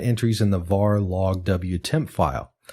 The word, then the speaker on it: wtmp: in the var log wtemp file. Wtemp, in this case, is spelled WTMP.